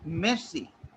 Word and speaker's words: merci: Like we don't pronounce R in, like we say mercy, like we don't pronounce R, right?